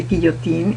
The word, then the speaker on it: Guillotin: why it's called the guillotine is because it was invented by a doctor called Dr. Guillotin, is pronounced in French, and it was invented